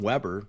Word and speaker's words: Weber: And then even my last name, I'm Weber, you're Reber, but they're spelled the same, just an R and a W. One letter different, and it's a long E versus a short E.